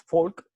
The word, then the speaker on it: Volk: alemán porque de hecho y que se pronuncia así porque la f la b y la v se pronuncia efe en alemán es folk y ryan por ejemplo